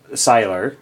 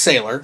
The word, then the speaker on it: Sylar: Randy here Andy's got Sylar probably the first time Randy right yeah it's pronounced sailor sailor okay so Sailor Moon